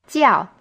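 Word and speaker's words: 叫: what is your name jiao is in the fourth stone and means to be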